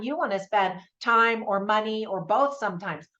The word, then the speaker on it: T.I.M.: you want to spend time or money or both sometimes watching a specific film so this specific film I'm reviewing today is called Tim and it's spelled t period i period M period because it stands for